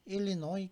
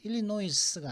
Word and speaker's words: Illinois: 아칸사, 일리노이, 캔사스는 S, 그죠? 매사추, 텍사스. S로 끝나는 주는 지금 5개 주가 있거든요. 아칸사스 부르는 아니 아칸사라고 하거든요. 그다음 일리노이스가 아니라 일리노이까지만 발음하면 되는데 이건 아칸사죠.